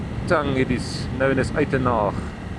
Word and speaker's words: Uitenhage: I say Uitenhage, of course, that is the English pronunciation, but of course, in the Afrikaans tongue, it is known as Eitenhage.